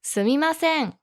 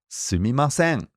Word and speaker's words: すみません: How do you pronounce that, Ami sensei? すみません. Sumimasen.